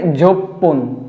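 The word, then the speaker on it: 十分: half যুক্ত হয়ে যাবে 10 মিনিট হয়ে যাবে যোগপন যোগপন যছন যোগপন আমরা যেকোন মিনিট ঘড়ির কাটা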